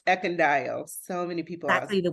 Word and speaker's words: Ekundayo: having me and my last name is pronounced eond so many people exactly the way it's spelled